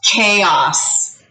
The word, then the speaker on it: chaos: seen this word before it looks like chaos because ch says cha and a usually says a and o usually says ah so chaos this is pronounced chaos like so let's do a little